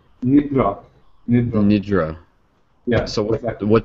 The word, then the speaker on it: Nidra: n d r a no it's yeah it's pronounced as Yoga Nidra Nidra Nidra yeah so